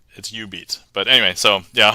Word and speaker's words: Jubeat: But yeah, so if anybody's curious, that's spelled Jubeat, but it's U-Beat.